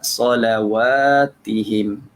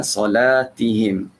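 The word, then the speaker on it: صلواتهم: Jadi bacanya ala solawatihim. Boleh? Jangan baca ala solatihim.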